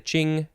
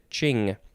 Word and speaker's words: Qing: so that the the ching the qing dynasty this qing word is from their word which i assume is pronounced very similarly uh i know i